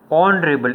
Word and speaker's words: honorable: He is an honorable. H is silent. Okay, H is silent. We are pronouncing from O.